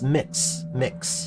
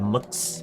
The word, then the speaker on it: Mx: Oh, it's mix, like a mixing bowl. MX as a term of address is typically pronounced mix. Some people will shorten the vowel to a schwa, more like a mux, but like that's less typical.